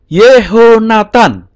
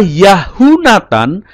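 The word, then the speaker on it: יְהוֹנָתָן: nah tidak dibaca yahutan tetapi berubah menjadi yho Nathan sebagai contoh ini tulisan ibraninya ini kecil saya besarkan saja ya tulisan ibraninya ini Tan Youth sewa he holemwaots Nun final yeho Nathan tidak yahutan atau yah Nathan ya kata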